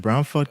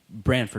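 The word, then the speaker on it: Branford: So you in Brown, you said Brownford, Connecticut. Brantford, not Brownford. Brantford, Yeah, okay. It's Brantford.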